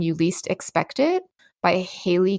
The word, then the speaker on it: Haley: Least Expect It by Haley Cass or Hi Cass. I think it's she pronounces it Haley.